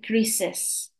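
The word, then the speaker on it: Chris's: ahora ojo super importante la pronunciación va a ser crises no importa si lo escribes como la primera opción apóstrofe s o como la segunda simplemente el apóstrofe a la hora de decirlo vas a decir crises so ese s o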